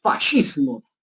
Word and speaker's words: fascismo: Los fascismos. ¿Cómo, profe? ¿No es fascismo? No, no es fascismo, es fascismo, porque en italiano, cuando tú leas SC, se pronuncia como sh, ¿sí?